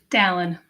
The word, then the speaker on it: Dallin: Dallin. The pronunciation, Dallin, who lived with multiple Yes.